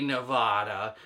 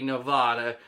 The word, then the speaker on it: Nevada: i'm allowed to say nevada but the correct way to say nevada is nevada you see the difference nevada gets you punched in the face nevada gets you invited over for dinner now the capital of